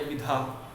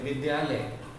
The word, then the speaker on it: विद्यालय: विद्यालय जो द है वो आधा है, उसका उच्चारण कम देर के लिए हो रहा है, और इसमें तो या